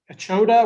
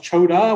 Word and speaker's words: Chota: Sometimes it's pronounced Chota with an E in front of it. Sometimes it's pronounced Chota with an A at the end of it.